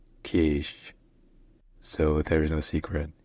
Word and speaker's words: Kish: Locally, in the Persian language, it's pronounced Kish.